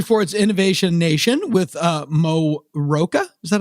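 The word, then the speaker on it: Mo Rocca: for uh Henry Ford's Innovation Nation with uh Mo Roka is that how you pronounced that correctly Morocco yeah I know it's Morocco I always thought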